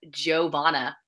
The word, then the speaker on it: Johanna: No, it's weird because her name is spelled with a Y and it's pronounced a J, whereas mine's a J, but it's pronounced like a Y.